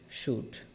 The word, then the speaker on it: should: শুড, শুড।